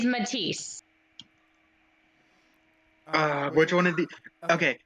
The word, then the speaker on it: Matisse: I'm still gonna say mad to say we both sitting how to say it's technically Canon but I'm just letting you know the proper pronunciation is Matisse which one it be